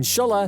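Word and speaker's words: Schueller: Her grandfather, Eugene Shueller (pronounced shuller), started the personal care company in France in 1909.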